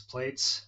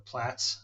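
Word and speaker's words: Plaits: It's based off, in part, mutable instruments plates, or plats, I guess is how it's pronounced, um, which is a multi-oscillator model oscillator for Eurorack.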